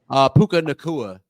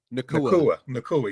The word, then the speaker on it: Puka Nacua: Puka Nacua. Nakua, yes.